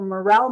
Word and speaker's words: morel: he had been out foraging for morel mushrooms or moral mushrooms depending on how you want to pronounce those that um and he